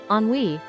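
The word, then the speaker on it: ennui: This is also a word of French origin, but is easy to pronounce. on wei which is a feeling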